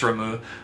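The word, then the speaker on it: Ramuh: remo remo beloved again i'm not sure on the pronunciation of this one but i believe it's ramu a beloved primal of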